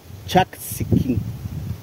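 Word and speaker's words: Chaksikín: Este es el segundo cenote, que se llama Chaxinquín. Ahí están los compañeros que nos guían, así que vamos a caminar aquí. ¿Cómo se pronuncia? Chaxinquín.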